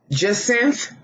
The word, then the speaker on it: jacinth: How was that pronounced? Jacinth.